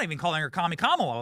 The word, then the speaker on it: Kamala: was Cala is racist saying her name's Kamala Kamala is the correct way to pronounce her name you know they tried to